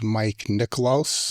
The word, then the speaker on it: Mike Niklos: Today, my guest is Mike Niklos. Mm-hmm. Did I pronounce that correctly?